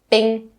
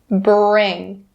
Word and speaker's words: bring: words bring and up for the word bring be careful to not skip the ER sound don't say bing bing not correct bring bring and for the last